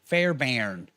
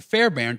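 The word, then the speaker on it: Fairbairn: fairbarn this is a so fair I want to spell it f a i r b a i r n Fair Baron there's a kicker for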